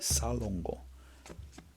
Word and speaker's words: Salongo: But Salongo means that's the Ugandan how you pronounce it, Salongo.